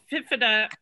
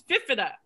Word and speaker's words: Fifita: uh now coming in fifa fifa i've got to say it right it's fifita it's noah corrected it